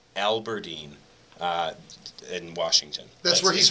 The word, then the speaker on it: Aberdeen: Yeah, I think it is pronounced Aberdeen.